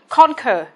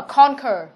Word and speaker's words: conquer: Nhưng mà conquer là trọng âm 1. Đó. Vậy trọng âm rơi vào âm tiết thứ nhất.